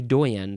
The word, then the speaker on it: doyen: I guess they would be a doyen. So yeah, I see some similarities between the words dean and doyen or doyen. Next word. Okay, similar word. Doyen. You emphasize the second syllable here. Doyen or doyen.